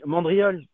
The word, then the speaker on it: mandriolu: Bon, bah vous avez mandriole. Alors ça s'écrit U mandriolu, mais ça en Corse, on ne dit pas les voyelles finales.